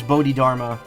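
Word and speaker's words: Bodhidharma: in this case too but I guess Bodhi Dharma is how it's supposed to be pronounced just works on a spelling level not a uh not a pronunciation level oh only stays pinned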